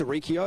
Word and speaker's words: Arricchio: Arricchio, am I saying it correctly? Yeah, that's spot on right there, mate.